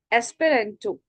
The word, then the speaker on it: Esperanto: Not a single word you have pronounced incorrectly, dear. And yes, one more. It's Esperanto, my dear. Esperanto.